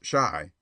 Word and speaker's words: Chi: sailor boy and printer Bo Chi pronounced shy by the way is the argot for Chicago a favorite device of